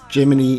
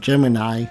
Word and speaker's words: Geminy: you may realize that I'm pronouncing it as geminy instead of Gemini which is how most people pronounce it but in this um